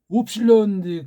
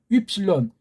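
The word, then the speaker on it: ύψιλον: 이건 오고 이거는 현대 아이들이 이걸 위라고 하는데 원래 이거를 우라고 발음해야 돼요. 우. 이게 웁실론 그래야 되는데 언제부터 어떤 아이인지 이걸 갖다가 윕실론, 이거 발음도 제대로 못해요.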